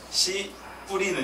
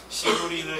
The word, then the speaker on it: 씨 뿌리는: 발음이 유의하셔야 돼요. 잘못하면 욕이 될 수 있으니까 씨 뿌리는 이라고 딱 끊어 주셔야 돼요. 안 그러면 씨 뿌리는 이렇게 되면 이제 이상하게 예수님께서 씨 뿌렸다고 할 수 있기 때문에 굉장히 어렵습니다.